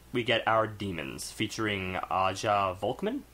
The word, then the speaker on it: Aja: get our demons featuring Aja vman it's Aja and then vman so pronounce it as you I was not doubting vman